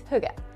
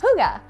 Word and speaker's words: hygge: And that word is huga. Now, it's spelled like this, so you would be forgiven to not think that it's actually pronounced huga.